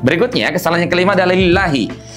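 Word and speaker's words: لِلَّهِ: Baik, berikutnya kesalahan yang kelima adalah lillahi. Lillahi sahabat Al-Qur'an itu panjangnya dua harakat saja.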